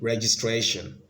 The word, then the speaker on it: registration: one we have a registration registration so the stress is on the third syllable B quadruplicate quadruplicate so